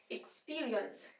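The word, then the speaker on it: experience: बहुत important word है एक तो ये इ इ से स्टार्ट हो रहा है एक्सपीरियंस हम बोलते है ए से स्टार्ट करते हैं यहां पे इ से स्टार्ट हो रहा है एक स पे स्ट्रेस आ रहा है तो इ इ को हमने आराम से बोलना है एक्सपीरियंस एक्सपीरियंस यहां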